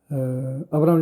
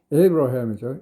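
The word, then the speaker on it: Abraham: 아브라함 링컨, 에이브러햄이죠. 에이브러햄 인명이 나옵니다. 성경책에서 아브라함이 나오기 때문에 유명한 이름이죠. 에이브러햄. 다시 한글로 적어보겠습니다. 에이브러햄 정도로 하는 것이 발음이 조금 가깝겠죠. 아브라함보다는 에이브러햄.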